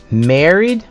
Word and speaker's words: married: Numéro 6, married. Le AR ici se prononce comme un E.